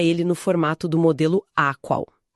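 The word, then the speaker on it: AQAL: Esse mapa existe e a ética integral estrutura ele no formato do modelo Aqual. Aqual. Isso se pronuncia a qual é uma sigla para todos os quadrantes, todos os níveis.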